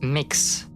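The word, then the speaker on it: Mx: By the way, for next week, pronunciation on no standardized, but it is frequently pronounced mix, but sometimes with a schwa as citizen take.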